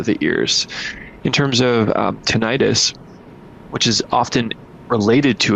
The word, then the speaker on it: tinnitus: And I often say tinnitus, Wade, tomato. Many doctors say tinnitus, so you'll hear me saying that as well. Is that the proper pronunciation, tinnitus? The proper pronunciation is tinnitus, and people hear that.